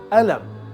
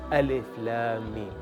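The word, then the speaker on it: الم: In standard Arabic, the word would actually be pronounced Alam, meaning pain, but a teacher will tell you it should be pronounced Alif Lam Mim.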